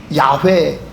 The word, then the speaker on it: 야훼: am Who I am 이거를 영어로 스펠링화하면 yhwh라고 하는 4개의 자음으로 표현하게 되어 있습니다 여러분 이걸 어떻게 발음하시겠어요 자음만 있으니까 발음할 수가 없는 겁니다 그래서 이스라엘 사람들은 그 히브리어에 모음을 넣어서 야훼 여호와 이렇게 발음하는 것입니다 그러나 그들은 절대 여호와라고